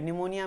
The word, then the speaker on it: pneumonia: निमोनिया में पी भी होता है लेकिन लगता नहीं है कि पी भी होता होगा।